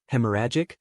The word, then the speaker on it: hemorrhagic: While less common, hemorrhagic, pronounced hemorrhagic, strokes are often more severe.